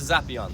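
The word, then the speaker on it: Zappeion: Now that building is called the Zapion. Those R's are P's in Greek.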